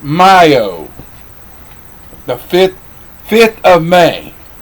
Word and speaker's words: Mayo: mayo m a o y m-a-o-y-m-a-y-o but it's pronounced myo the fifth fifth of may it's way single